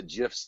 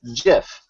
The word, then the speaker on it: GIF: But the creative that the G stands for graphical insists that it's pronounced GIF. And so the internet is, especially Reddit, is split on this debate. And you have people who are very adamantly about pronouncing it GIF, and people very adamantly about pronouncing it GIF.